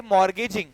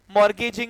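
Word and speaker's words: mortgage: बाय लिखो बाय बाय मॉर्गेज merging की spring आती है एम ओ आर टी जी ए जी आर एन जीी य टी जो है साइलेंट होता है मॉर्गेज बोलते इसको मॉर्गेज मॉर्गेज its assets assets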